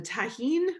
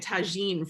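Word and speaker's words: tahini: And the tahine, I was calling it tagine for a while, but then I did as well, and then I was told how to say it the correct way.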